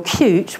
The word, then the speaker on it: Qt: multiple teams and then QT or cute which is the correct way to pronounce it is the framework the